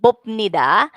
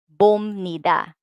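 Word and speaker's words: 봅니다: The bop here will sound mium instead of bopnida. So the sound here, because the next sound is nian, n sound. So the piyup here will become sound. So we are going to read this as bomnida with the M sound, not the original sound P, bopnida. So they will not understand bopnida. So we should say bomnida.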